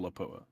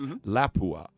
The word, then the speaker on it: Lapua: down I can totally understand how you would go for laa I can yeah I mean l a p UA La Pua right and it's like no it's laua and it's like you got to you know put a different emphasis on it and it's like okay